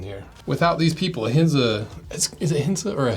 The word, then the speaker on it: Ahinsa: we got hinza shoes I think the a is silent I don't think it's a hinza I think it's hinza so who is hinza